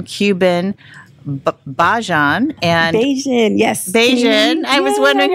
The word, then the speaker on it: Bajan: Bajan. I was wondering how to pronounce that.